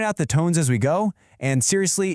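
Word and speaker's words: 狗: So, the word for dog in Mandarin is go, and it's pronounced go. It's just one syllable, and the tone kind of dips down and then comes right back up.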